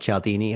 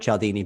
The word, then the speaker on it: Cialdini: i'm just rehashing uh this book by robert cialdini over and over again on my my channel